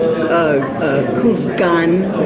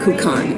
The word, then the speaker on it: Kukan: Simon Kukoc hold on is that Chinese cook on is its Chinese a gun would be the more specific but in 1942 they called it cook on in the name of